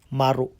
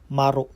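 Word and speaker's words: 丸: So yanung ang pagbigkas pala dito ng zero sa Japan guys ay hindi zero maru. So yun yung pagbigkas na dito. Halimbawa sa mga room number ganyan and then sa telephone number madalas maririnig mo sa kanila dito ay maru hindi zero.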